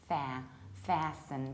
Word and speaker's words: fasten: So instead of long R, we have ash, fasten. But as you can hear, I skip T and I reduce the ending.